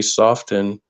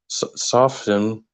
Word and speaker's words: soften: the line where we soften soften I'm saying it yeah I'm not supposed to pronounce the T um and then we